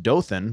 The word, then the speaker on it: Dothan: very cute downtown like i just believe it's pronounced dothan but go ahead uh dope i don't i